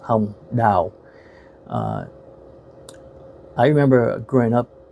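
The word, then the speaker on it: Hồng Đào: space d a o and in Vietnamese that's pronounced H da uh I remember growing up watching her um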